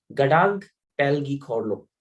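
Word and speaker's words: Ngadag Pel gi Khorlo: their highest civilian award, Gadag Pelgi Khorlo. So this is the name of their award, and where N is silent, Gadag Pelgi Khorlo.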